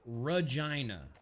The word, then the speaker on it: Regina: No, Regina. R-E-G-I-N-A. Rhymes with a lady's body part?